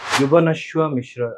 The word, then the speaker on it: Jubanashwa Mishra: Jubanashwa Mishra, am I pronouncing it right?